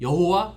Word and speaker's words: 여호와: 줘 우리나라 말로 하면 거기다가 모음을 갖다 붙여서 여호와 야외 라고 발음하는 겁니다 여호와 야훼 는 같은 말이에요 다만 모음을 다르게 발음 해서든 거거든요 그러니까 여호와라는 바른 역시